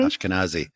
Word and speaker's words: Ashkenazi: Ashkenazi.